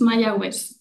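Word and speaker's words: Mayagüez: probably pronounced that incorrectly how how do I pronounce that Jimmy it's mayz mayz campus let's welcome Dr Bennett and jamy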